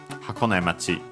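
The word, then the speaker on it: 箱根町: So in our case here would be Hakone Machi. Hakone Machi, so on the ne.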